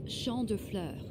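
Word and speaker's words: Champs de Fleurs: do you say that it's sha Flur it means fields of flowers Champs def floors this is the place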